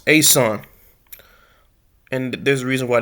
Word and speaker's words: Esan: The Ean people pronounced Asan and there's a reason